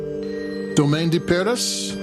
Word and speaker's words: Domaine de Paris: Domaine de Paris, Cotes De Provence, AOP 2020. Oh my God, your pronunciation is right.